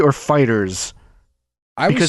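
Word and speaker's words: FighterZ: We can confirm officially that we pronounce it like the word fighters. Not Fighter Z, not Fighter Z, not Fighter Zeto, not Fighters, fighters.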